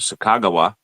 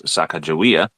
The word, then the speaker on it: Sacagawea: And they utilized a guide named Sakagawa. Some people may have mispronounced her name as Sacagawea.